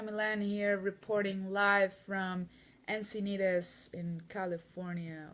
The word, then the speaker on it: Encinitas: Carolina Millan here, reporting live from Encinitas in California, or as I would say in Spanish, Encinitas. That's the actual pronunciation.